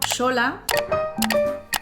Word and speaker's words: Xola: También se mantienen palabras que tienen la letra X pero que siguen sonando como sh. Por ejemplo, sola.